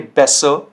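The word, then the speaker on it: besser: हल्का सा अ आपको साउंड करना है, आपको एयर बोलने की जरूरत नहीं होती है, ठीक है। कैसे, देखिए, बेसर, बेसर, मैं आर साउंड नहीं कर रहा हूं एंड में, ठीक है, ध्यान से सुनिए। बेसर, जुपर, जुपर, फाटर, फाटर। तो इसमें जो है आपको आर जो साउंड है वो साइलेंट रखना होता है, ठीक है।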